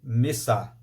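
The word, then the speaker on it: מצה: aquela tigela com a massa branca dentro e pronuncia-se mês a o massa é um pão sem fermento o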